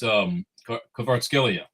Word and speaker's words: Kvaratskhelia: It's Kvaratskhelia.